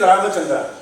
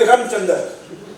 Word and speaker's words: Ramachandra: act and Gury said Gury could never pronounce my name. My name my full name is Ramachandra but he only called me Ramchandal as a so he said not out Ramchand very bad sportsmanship.